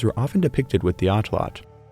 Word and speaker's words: atlatl: of the language nawat you do not pronounce the L at the end of the word as a syllable. So pronounced correctly the word is atlot.